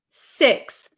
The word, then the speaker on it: sixth: Uh, so no, I wouldn't use an F sound here. This should be a th sound. So, um, fourth, fifth, sixth, sixth, right? Sixth. Okay.